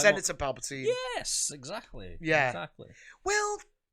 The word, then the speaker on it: Palpatine: How's it pronounced? Palpatine. Palpatine.